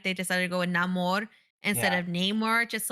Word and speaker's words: Namor: Nate is right it is supposed to be pronounced Neymar but in the movie they they just call him no more I just love their use of native Mexicans